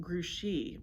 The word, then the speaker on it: Grouchy: name said mrs zimmerman only it's pronounced grushi because it's a french name fat ears here knows